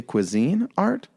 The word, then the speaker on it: Cuisinart: it just down south I said Cuisinart and it's okay for me to say cuisine art cuisine art but the